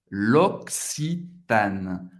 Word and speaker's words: L'Occitane: L'Occitane. L'Occitane. Você vai fazer uma pausa entre o primeiro C e o segundo C. L'Occitane. Acaba no N. Não vai pronunciar o E no final.